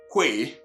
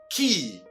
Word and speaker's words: quay: So, if you didn't know, now you know that this word is never pronounced quay as spelled, but rather what? Key, just like this one that we know.